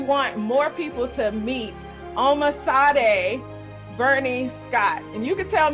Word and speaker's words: Omisade: It's Omisade. Omisade. Oh, like the singer.